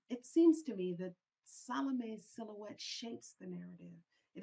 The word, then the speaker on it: Salome: before I begin that I refer to her as Salome. You're absolutely correct in your pronunciation of her name. That would be the classical pronunciation. But in South Africa, we tend to squash our vowels.